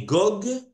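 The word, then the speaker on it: גֹּג: roi qui s'appellera Gog mais Gog s'écrit gag il n'y a pas de vave c'est avec le rolam Gog gag ce chef ce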